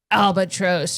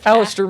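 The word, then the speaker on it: Alastor: And Dumbodore goes Albatross or whatever his name is and Moody just shuts up. Oh my god. Now you've butchered it and I can't I know I did. Alistister. Alistister Moody.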